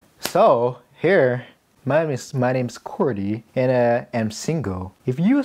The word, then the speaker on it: Cordy: Hi, my name is Cordy, and you can also call me Cordy. And that's how you pronounce it in Chinese.